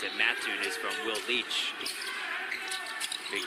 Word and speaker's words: Mattoon: The reason I know how to pronounce it, Mattoon, is from Will Leach.